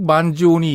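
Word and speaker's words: Mangione: 이탈리아에서 이게 왜냐면 우리가 척 만지오니 있잖아요. 그것도 네. N-E로 끝나는데 만지오니 이렇게 발음하고 그 양반 오셨을 때 물어봤어요.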